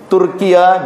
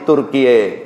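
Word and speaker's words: Türkiye: Jadi mereka kalau bunyi A di belakang di ujung kalimat dibacanya jadi E ya. Ismail Haniya, Ismail Haniye. Turkiya jadi Turkiye. Itu ya.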